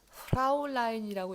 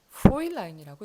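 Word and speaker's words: Fräulein: 자, 요거는 프라울라인이라고 읽지 않고 프로일라인이라고 읽어요. 요 발음이 오이 발음이 나기 때문이에요.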